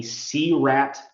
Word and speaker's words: SEARAT: I encourage all of your audience to Google something called a CRAT tool, and it's spelled SEARAT, and it's made by a firefighter in Seattle, and it's like the Seattle Firefighter Rapid Entry Tool.